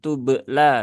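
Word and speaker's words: تبلى: Setelah itu urba, urba ini dia huruf qalqalah, ya, huruf qalqalah, dan dia termasuk huruf tipis, maka qalqalahnya ditipiskan dan bunyinya juga jangan berlebihan, ya, jangan sampai menjadi tubla begitu kan, ya. Tetapi cukup disentuhkan saja di tempat keluar bak, ya, di apa namanya, pertemuan dua bibir, kemudian segera lepaskan. Tubla, ya, tubla, bukan tubla tapi tubla.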